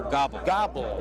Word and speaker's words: Gobel: And Cale, is it pronounced Gobel? Gobel? No, Gobble.